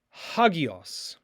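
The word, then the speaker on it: ἅγιος: Holy is hagios.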